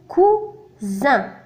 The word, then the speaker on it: cousin: ثم لنا هنا اس محصور بين deux voyelles u و i. ينطق cousin. donc اس هنا ينطق ز.